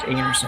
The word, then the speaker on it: Einarson: the air but I even car's last name pronounced anerson and we get a little guilty getting Laing